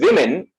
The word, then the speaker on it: women: Oh women you know when I pronounce the word women it's not woman right it's plural plural is women so I'm using the other symbol but doing the sound is i right yes I am